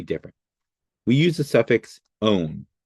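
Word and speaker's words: -one: We use the suffix own. It's spelled one, but it is pronounced own.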